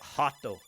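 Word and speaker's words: rato: Portuguese you say it hot Oh hot oh yeah an R at the beginning of the word is pronounced as an H you can attack the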